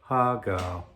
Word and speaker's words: har gow: it in Chinatown as HAR GOW. Now that name, unlike our English and Western languages, has music to it. Besides lyrics, it has music. So it's hi-lo, HAR GOW. That's how you say it.